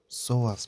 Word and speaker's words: psoas: And then we have something called the psoas muscle, which is spelled psoas.